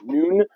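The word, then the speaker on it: Nuun: Don't know how to pronounce that. It's N-U-U-N, Noon.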